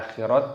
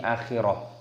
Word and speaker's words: akhirah: Ketika tanda waqaf berhenti maka diganti dengan sukun dan diganti dengan ha, bukan dibaca akhirat tapi akhirah.